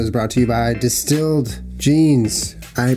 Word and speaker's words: DSTLD: uh this episode is brought to you by distilled jeans I pronounced it wrong last time I was saying dstl denim but it's wow Julian you're supposed to